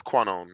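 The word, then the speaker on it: Kwannon: a Canon pronunciation because I always say qu it's conone I didn't know Quon yeah my bad it's quone my bad is it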